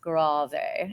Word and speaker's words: grave: fast, prestissimo, down to, this is not pronounced grave, it's pronounced grave. And I can't say grave, I have to say grave, because that's what it is.